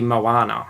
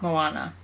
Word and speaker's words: Moana: I'm saying Moana like it rhymes with Goanna. It would be Moana. Moana.